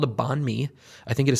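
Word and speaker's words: bánh mì: So things like pickled veg and anxious, you know, anxious meat and it's it's it's an incredible sandwich called a bonme. I think it is spelled B A H N M I.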